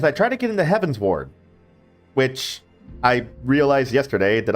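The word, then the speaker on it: Heavensward: As I try to get into Heaven's Ward, which I realized yesterday that I've been pronouncing Heaven's Sword like a sword, not a ward, like a district or, you know, magical barrier, what have you.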